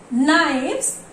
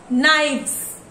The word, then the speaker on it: knives: When knife is changed into knives, here it is F sound, we can hear knife. And here knives. Here V sound we hear.